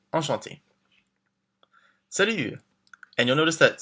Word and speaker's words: Enchanté: And don't forget, if you're a woman, we add the extra E, but it's the same pronunciation. Enchanté.